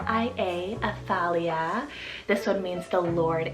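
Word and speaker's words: Athalia: not a t h a l i a aphalia this one means the Lord is exalted then I added the name livelin it's spelled l-i-v l-y-n livelin now this one I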